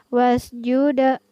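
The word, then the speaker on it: وَاسْجُدْ: Yang pertama huruf dal pada lafaz wasjuda. Jadi di sini dal kita pantulkan cara membacanya. Wasjuda.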